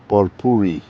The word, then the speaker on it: purpurea: Today, I would like to introduce a very pretty succulent from South Africa that known as Trudopsis purpurea, or you can pronounce it purpuri.